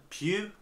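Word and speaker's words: Pugh: production called dolly it's gonna start florence pure pew france pew from midsummer it's got one of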